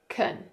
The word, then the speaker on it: can: the ah sound, but we also have kun with the schwa sound, and this is a weak form. Weak forms are syllable sounds that become unstressed in connected speech, and they're often pronounced as the schwa, Can, kun, Take a look at this sentence.